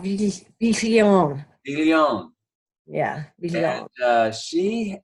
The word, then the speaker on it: Viglione: No, it's supposed to be kind of soft. Viglione.